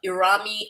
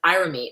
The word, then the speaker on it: Irami: Another YouTuber, Irami, or actually he pronounced it Irami.